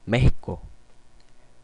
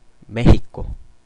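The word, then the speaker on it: México: 스도 스 발람 나죠 그다음에 멕시코는 메히코 메히코 예 히읗 발음이납니다이 그리에 가는 우리말에 이에 가까운 소리가 난다납니다 역시나 중남미에서는 그 예와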